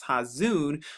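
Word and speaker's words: חָזוֹן: Now we're here in the Hebrew from Strong's Dictionary, and as you can see, Strong's Concordance number 2377 says Hazan. Another way to pronounce that is Hazun, which of course right here the definition is vision.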